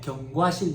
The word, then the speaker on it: 경과실: 우리 시험에 경과실 이렇게 나왔어. 발음이 안 좋아지고 경과가 아니라 경 경 경과실 경과실 먹는 거 말고 경과실 됐죠?